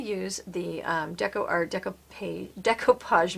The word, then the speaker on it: decoupage: the deco art deco decoupage medium and that is actually how you say it because it's separated i thought it was deco page but this is the